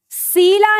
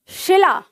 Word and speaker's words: शिला: सीला नहीं, शिला, क्योंकि आप इसको ऐसे टुकड़े में तोड़ो। शी, ये क्या है, सी, क्योंकि इस पर छोटी ई की मात्रा है, ठीक है।